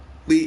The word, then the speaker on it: Li: Jet Li, and by the way, their pronunciation is different because Bruce is Lee, Jet is Li.